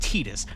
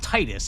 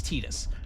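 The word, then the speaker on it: Tidus: beginning of Kingdom Hearts says Tetus because it's pronounced Tetus not Titus. If you say Titus around me I'm going to judge you. Uh it's Tetus.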